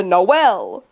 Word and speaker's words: Knowles: is so funny because if you read my fucking name, I'm Noel. Well, you can say Noel the same way. Yeah, it's spelled the same way. Exactly. A lot of people call me Knoll instead, and I'm like, you're pronouncing it wrong, but you've got the right idea.